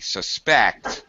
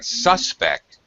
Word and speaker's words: suspect: okay um all right suspect interestingly in English is a very good example of how we have a two- syllable word which can be a verb or a noun Uh I supect that he stole the money suspect suspect second syllable stress when it's a verb he is my main suspect suspect when it's a noun first syllable stress you can really really